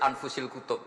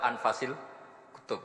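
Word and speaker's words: أنفس الكتب: Di sini ditulis anfusil kutub. Selalu saya baca anfasil kutub karena maknanya kitab terbaik. Kalau kitab terbaik bacanya bukan anfus tapi apa? Anfas.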